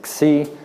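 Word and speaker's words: ξ: squiggle which I believe the proper pronunciation in Greek is C and if you had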